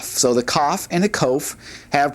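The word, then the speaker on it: קוף: So the cough and the kof have pronunciation very much the same, but this has a k sound such as in the word queen or in the word baroque.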